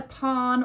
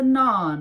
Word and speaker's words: naan: how to pronounce anything she calls it a pawn or a pan it's a naan there was around the